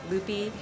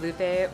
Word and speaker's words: Lupe: to accept the fact to be called loopy um instead of Lupe or having to shorten